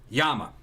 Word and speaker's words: Llama: the that the uh yama or some people called llamas that's what it was either the correct pronunciation is a yama uh it was either